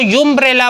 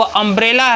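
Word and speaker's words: umbrella: अब वही देखिए, जैसे हम लोग पढ़ते हैं अम्ब्रेला को अगर उसको यूम्ब्रेला पढ़ा जाए तो वहाँ पे हम ए का प्रयोग करेंगे, लेकिन अम्ब्रेला का जो प्रोनाउंसिएशन है, उच्चारण है, वो अम्ब्रेला है, तो अम्ब्रेला के पहले हम हमेशा एन का प्रयोग करते हैं।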